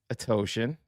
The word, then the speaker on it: Atoshin: He would be the fourth member of Fight Night with Atoshin. It rhymes with lotion.